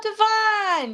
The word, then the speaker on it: Divine: We have, is it pronounced, does he pronounce it Divine? Oh, Divine.